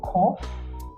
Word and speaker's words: Qoph: So number 19, we have cough, cough. Some we put it as QOPH because of that sound, but it's okay.